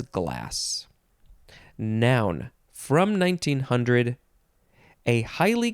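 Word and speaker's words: demi-glace: glass is spelled g-l-a-c-e I would maybe want to say gloss but it says glass noun from 1900 a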